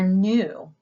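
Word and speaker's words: ν: Next is the letter nu, which looks like the English letter V, but this is the same pronunciation as our letter N, so nu.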